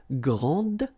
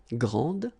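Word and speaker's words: grande: you will pronounce it Grand okay don't insist on the final but then pronounce this D Grand and then exactly the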